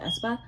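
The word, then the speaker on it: aespa: velvet or um espa thinks i'm pronouncing not ace but espa i could see not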